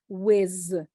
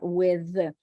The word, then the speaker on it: with: like so or Z so a lot of people say whiz not with or something instead of something so the Su and